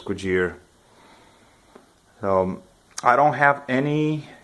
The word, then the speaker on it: Cugir: this is the cugir cool gear a lot of people pronounce differently the proper pronunciation is good year so I don't have